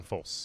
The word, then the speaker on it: Folse: young age after graduating from the chef John full am I saying it correctly full si culinary school chef John Folse thank you Jefferson chef chef John Folse Culinary